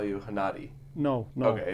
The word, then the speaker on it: Hennadiy: that whole area, and I've heard Gennady before pronounced with a G, but never with an H. G is kind of Russian notation of my name.